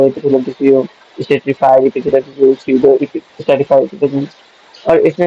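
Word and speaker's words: pseudo: पी मतलब पी इसका silent होता है, इसलिए हम इसको स्यूडो स्पेसिफाइड कहते हैं। इसका पी साइलेंट होता है एसएसपी।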